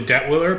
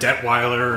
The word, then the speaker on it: Detwiller: It's usually Detwiller, but I've heard Detweiler, and it's spelled like 33 different ways.